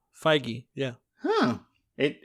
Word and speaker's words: Feige: the the president of Marvel Studios feige yeah what really that's how you say it fige yeah huh it it's